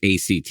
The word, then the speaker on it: ACT: But ACT, it's pronounced one word.